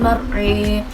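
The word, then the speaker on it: الْمَرْعَىٰ: kedua pada akhir ayatnya pada bacaan mar'a, di situ terdapat imalah sehingga cara membacanya menjadi walladzi akhrajal mar'a.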